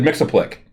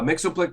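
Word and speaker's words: Mxyzptlk: adventures of superman and is that how you say it i always said mix-a-plick well it's it's been debated uh mixo-blick was the way it was pronounced when we were kids and then somebody then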